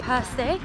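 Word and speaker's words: Percé: Perce.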